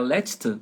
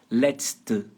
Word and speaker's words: letzte: Vocês conseguiram pronunciar letzte com essa dica de pronúncia aí que eu coloquei entre aspas? Letzte. Letzte. Deu para pegar assim? Letzte. Letra E no final, lembrando que é um som fechado, né?